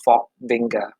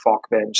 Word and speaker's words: Falkvinge: was rick falkvinge um i think he pronounces his name rick fox vinga i'll say rick faulk bench so forgive me rick he is a falk